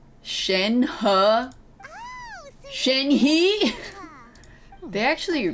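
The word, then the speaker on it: Shenhe: nap the cleavage napkin Shanghai huh my name Shen huh he they actually pronounce the names right that's cool thank you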